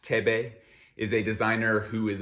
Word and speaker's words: Thebe: Thebe Magugu, first name pronounced Thebe, is a designer who is obsessed with craft and storytelling.